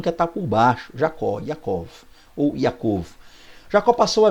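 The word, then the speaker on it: יעקב: Jacó, do hebraico Yaakov, né, há quem pronuncie Yaakov, fica à vontade. Geralmente o hebraico é mais fechado, né? Yaakov.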